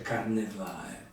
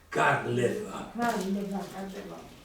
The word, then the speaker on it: Carlevà: Comunque ricordate, non si dice Carnevà, Carlevà.